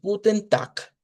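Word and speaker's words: Guten Tag: Eh, y sí, no se equivocan, no se lee con g, sino que se lee o se pronuncia con una k.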